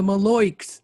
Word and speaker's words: malocchio: to repel against the malocchio how do you say that charles i think you did better than i could do it i've i've heard malloy the maloyks i've heard it said like that malocchio the evil eye and